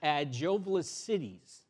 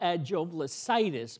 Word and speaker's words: Agiovlassitis: So I'm going to tell you how to say it. It's Agiovlassitis. It's not Agiovlassitis because itis is an inflammation.